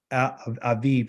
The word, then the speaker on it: Aviv: the first month is that's pronounced as Avi but it's really abib a a alphabet um a yode and a bit so it's Aviv in pronunciation okay um we have